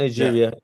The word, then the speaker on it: Niger: Am I pronouncing it right? Not Yeah. Nigeria.